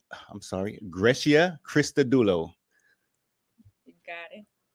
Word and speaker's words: Grecia: up you gotta let us know how to pronounce it so we can move forward on this Gracia Gracia Gracia graia all right good you